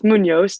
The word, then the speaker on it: Muñoz: ellie how would you pronounce your name munoz yeah that's good enough good well what do you pronounce it as it's munos technically because the enemies well yeah but like